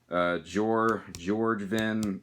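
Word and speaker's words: Bjoergvin: And we have the follow-up, which is my personal favorite, George Vin, or however the fuck you're supposed to pronounce it. I don't know. I'm pretty sure the B is silent right there, so.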